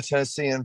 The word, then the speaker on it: Tennessean: Mike, is it Tennessean? Yeah, I'm a Tennessean by way of New Orleans, New York, and Nova Scotia.